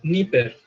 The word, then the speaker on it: Napier: Se escribe Napier. A ver, se los voy a anotar. John Napier. Pero se pronuncia Niper.